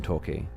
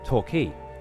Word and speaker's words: Torquay: Dude, I don't live that far away from Torquay. And it's always been pronounced Torquay, not Torquay.